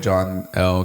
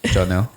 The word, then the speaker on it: Johnell: uh nobody oh but John L got the closest say it right johnell johnell got the closest